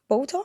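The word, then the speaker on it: Boulter: Katie Bolter? Yeah. Am I pronouncing her surname right?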